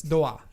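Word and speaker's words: ドア: I mean, it's pronounced differently, but it's doa, right?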